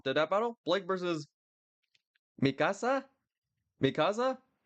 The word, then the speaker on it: Mikasa: Blake versus Mikasa. Mikasa. It sounds like I'm trying to say my house. Just in case you don't know, Masa means uh my house in Spanish.